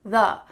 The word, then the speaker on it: the: When we say T-H, make sure that your tongue is between your teeth, th-uh, or it's at least touching the back of your teeth.